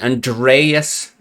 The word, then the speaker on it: Andreas: Actually start saying his name correctly. Andreas. The accent on the E.